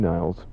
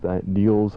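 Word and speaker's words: Nils: Talking to a guy on the phone just a minute ago, and he told me that I was mispronouncing Niels Lofgren's name. I think I was saying Niles, and if I'm wrong, excuse me.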